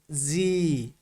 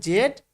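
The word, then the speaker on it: Z: এরপরে আমরা আগে পড়েছি জেড, কিন্তু এখানে হবে কি জি। আমরা পড়েছি জেড, কিন্তু এর প্রোনাউন্সিয়েশন, কারেক্ট প্রোনাউন্সিয়েশন কি জি।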